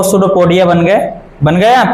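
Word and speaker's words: pseudopodia: इसे सूडोपोडिया बोलते हैं। सूडोपोडिया, पी से स्टार्ट होता है। स्पेलिंग किससे स्टार्ट होती है इसकी? पी से।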